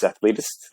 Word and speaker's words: Athletist: It's Athletist. That's how you pronounce it.